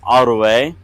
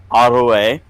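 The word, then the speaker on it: aru'e: If you want to say enemy or rival, it's Arue, and that is spelled A-R-U, Beton, E, Arue.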